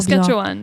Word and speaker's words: Saskatchewan: Est-ce que je prononce toujours Saskatchewan, bien?